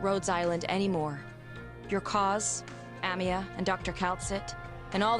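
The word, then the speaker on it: Amiya: because in the league she literally pronounced Amia as like amio and it was like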